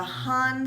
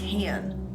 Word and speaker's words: HAN: bronzer this is the han skincare actually it's pronounced hand it's a really loud